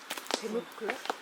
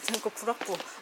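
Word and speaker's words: 제물포구락부: Ssong: Jemulpo Club? Moi: No, Jemulpo gu-rak-bu. Kkk not Club.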